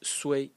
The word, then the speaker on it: 雖: The second character in this series also very abstract is pronounced su in the first tone.